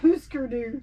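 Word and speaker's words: Hüsker Dü: know what that is it's actually pronounced huskeroo oh the board game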